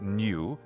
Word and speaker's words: nu: little hat it's wearing the lowercase new looks like a lowercase Roman alphabet v but in fact it is equivalent to our n Sound and the equivalent to